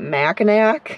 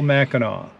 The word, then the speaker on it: Mackinac: now Mackinac Island is has an AC at the end but it's still pronounced we see some people that pronounce it Mackinac it's not a Mackinac it's not Mackinac and